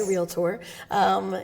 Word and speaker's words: realtor: To be a realtor, which you have to say it like that, right? That's the trademark way, realtor, is different.